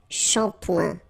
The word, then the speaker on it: shampoing: And then un shampoing. Okay, this is a strange one, really. Try to listen to me and repeat, so maybe you shouldn't visualize the word, but still, it goes like shampoing, okay?